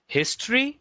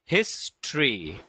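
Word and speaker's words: history: হিস্ট্রি এইযে অ্যানসারটা কিন্তু ছেলেটা দিছে হিস্ট্রি।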